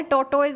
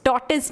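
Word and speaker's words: tortoise: मेरा टॉर्टिस क्या होता है? टॉर्टोइज होता है। उसने बोला आप कौन से ज़माने में जी रहे हो मम्मा, इट्स टॉर्टिस नाउ।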